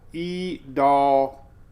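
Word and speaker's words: Idalia: e e d y'all I can't even remember how we pronounce it anyway doll y'all we're talking about potential e doll y'all I ain't making it up that's how I interpret the uh pronunciation for the National Hurricane Center all right so we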